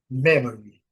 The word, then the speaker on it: memory: a comá, o Y bem pronunciado. Y no final, gente, tem que ser bem bem destacado. É o som de I bem destacado. Então, a palavra memory, igual eu falei, se a gente suprimir, não faz muita falta não. Memory.